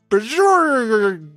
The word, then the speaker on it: Bjorrgl: His name is Bajorgo. Yeah, that's how you say his name. How do you spell it?